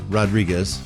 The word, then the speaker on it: Rodriguez: And then next up we have Rodriguez, which is Rodriguez, but anytime it's a Brazilian fighter. You get rid of the R and it's pronounced H.